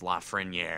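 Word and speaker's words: Lafrenière: Which I know it's technically pronounced Lafreniere.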